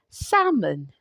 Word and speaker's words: salmon: The next sound is salmon. The L is silent.